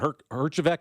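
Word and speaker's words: Herjavec: something uh the other day with with Robert Hergeek is how you pronounce his name from Shark Tank, right?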